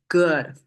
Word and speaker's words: 谷: important to us okay it's pronounced as go and it looks mid